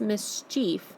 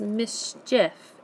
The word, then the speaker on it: mischief: second column where we have Mischief it's not pronounced Mischief it's pronounced Mischief if so you're hearing the is sound in